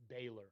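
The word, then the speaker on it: Bálor: Is it Balor or Baylor? Baylor. Okay. Okay. That's what we're gonna go with. Baylor.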